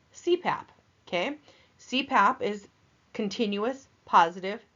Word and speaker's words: CPAP: lot of acronyms so an acronym is an abbreviation made up of initials that can be pronounced as a word like CPAP okay CPAP is continuous